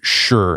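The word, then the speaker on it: shi: And an important part of this earth component you dig in deep in the book is this idea of sure. Now it's pron it's spelled sh h ih I believe it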